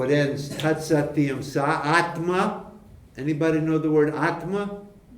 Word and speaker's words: Atma: It's a short A at the end of Atma.